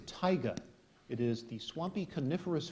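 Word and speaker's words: taiga: all right uh and this word has a near homonym the word is Tiger it is the swampy coniferous forest of Siberia beginning where the tundra ends tiger t a i g a tiger correct quickly done there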